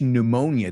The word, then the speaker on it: pneumonia: Well, if I catch pneumonia, tiene una P muda.